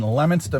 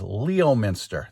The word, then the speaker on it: Leominster: folks it's Thursday the 19th I am in Lemonster mass it is if you look at it it's called it looks like it says Leo Minster that's the way it's spelled but it's pronounced Lemonster and in Bostononian it's Lemonster.